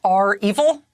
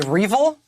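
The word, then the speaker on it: REvil: some people say it's our evil other people just say revel in any case it rhymes with evil i am not an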